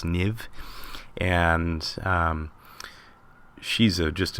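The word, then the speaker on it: Niamh: Parsons um that's it's looks like Niam Parsons but I think it's pronounced NIV and um she's a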